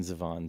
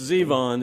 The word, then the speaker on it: Zevon: I've always wanted to call him Warren Zavon, too. It's always been Warren Zeon to me. It's Zevon.